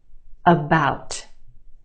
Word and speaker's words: about: some of these words about about okay we have two syllables in that word the second syllable is emphasized or stressed the ow sound is stretched about the first syllable about about it's not about it's about about that let's talk about that